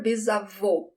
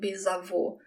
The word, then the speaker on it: bisavô: Great-grandfather, bisavô. That's the closed sound, bisavô.